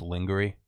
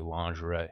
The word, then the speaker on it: lingerie: friend told me uh I used to think lingerie was lingerie that well I expect like how it's spelled yeah I was like oh that's lingery it's actually lingerie yeah I found that